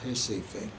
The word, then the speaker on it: Recife: And it was just happening kind of, I was in a city in the northeast called Recife, or Recife, as it's pronounced in Brazil.